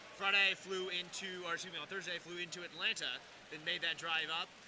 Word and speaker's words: Atlanta: We've discussed the silent T's in the native pronunciation of Atlanta.